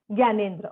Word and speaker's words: Gyanendra: Gyanendra. Okay. So instead of GYA, it's GIA. Got it.